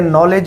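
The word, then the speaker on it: knowledge: उनको नहीं पढ़ा जाता जैसे नॉलेज में के साइलेंट इसको नहीं पढ़ा जाता इस तरह बहुत सारे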